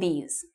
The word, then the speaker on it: these: With E, you smile.